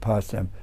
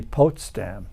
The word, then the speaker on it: Potsdam: told that it's really potam po a little late for us to try to change that I was told you anyway so it's probably the way the Germans pronounce it yeah so they went